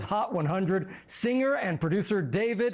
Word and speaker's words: D4vd: Singer and producer David, and it's spelled D4 VD.